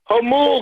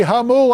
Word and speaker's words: Jamul: It's Jamul, California. I'm sorry, Jamul. I go through there. I should know that. I asked my staff, is the J silent? They did an Anglo pronunciation.